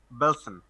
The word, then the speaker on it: Belsen: ডাখাও, অসউইচ, বেলসন। ওকে, এরপরে আমরা কয়েকটা উচ্চারণ দেখবো।